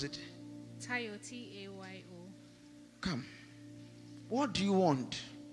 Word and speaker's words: Tayo: How do you pronounce it? Tayo, T-A-Y-O.